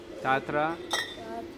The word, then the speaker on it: Tatra: Tatra.